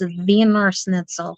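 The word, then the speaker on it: Wiener Schnitzel: it really good the vener snle vener snle place I tried saying it with a W and my mom goes no it's German it's VOR snitel so I don't know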